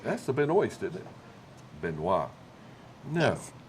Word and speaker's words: Benoist: Benoit. No, Yes. it's Benoist, spell it. No. Well, the way you spell it, but now pronounce it right. Benoit.